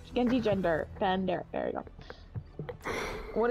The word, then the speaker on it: genjigender: Rainbow, are you Genji Ginger? And I was like, whoa, I'm sorry, Genji Ginger? Wait, what? Yeah. You can't pronounce it. Genji Ginger? No. Genji Ginger? Genji Gender.